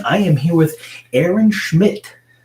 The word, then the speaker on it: Schmidt: I am here with Aaron Schmidt. How do we spell your last name? S-C-H-M-I-D-T? Yeah, S-C-H-M-I-D-T. The D is silent.